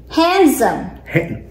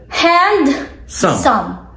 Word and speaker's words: handsome: knowledge knowledge what else handsome handsome where's the D hand hand some yes now say it